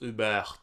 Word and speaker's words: Hubert: Écoute, je suis désolé de te reprendre, Benjamin, mais mon nom, ça se prononce Hubert. Oh, hey, vraiment désolé. Le T est sonore. Hubert.